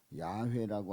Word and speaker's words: 야훼: 또 여호와 그리고 원래 발음을 보게 되면 야훼라고 하는 그러한 이름이 이제 어떤 발음상 더 가깝다 이렇게 얘기를 해서 어떤 분들은 여호와라고 하는 그 단어가 나오면 야훼라고 이렇게 바꾸는 분도 계십니다만은 여호와든지 야훼든지 그 이름의 그 발음의 문제지 이제 같은 말입니다.